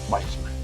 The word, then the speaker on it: Boltzmann: Que creo que se pronuncia bien así. Boltzmann. Sí, Ludwig Boltzmann.